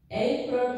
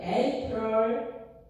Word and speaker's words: April: April 발음 한번 따라해볼까요? April. 그 April. 네. 발음이 R하고 L하고 연결돼요.